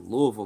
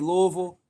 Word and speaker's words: Louisville: Straight out of Louisville, Kentucky.